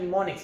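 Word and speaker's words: mnemonics: निमोनिक्स एन से start होते हैं। निमोनिक्स, देखिए इसमें एम जो है ये साइलेंट होता है। निमोनिक्स यहाँ से एन से स्टार्ट होता है, लेकिन ये एम देखा जाए।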